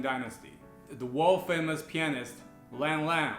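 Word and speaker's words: Lang Lang: the world famous pianist lan lan or long long to pronounce it correctly is actually manchu a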